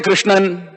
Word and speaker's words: Krishna: you see the word Krishna is pronounced so many in different ways in South India if you go they will say Krishnan ramakrishnan ramabala subramanyam right